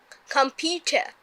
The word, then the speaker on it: computer: এই রটাকে British পিপুলরা avoid করে, তাহলে উচ্চারণটা কেমন হবে? কম্পিউটার। Computer. কম্পিউটার। Computer. তোমার ব্রিটিশ ইংলিশ এটাই উচ্চারণ হবে, কি হবে?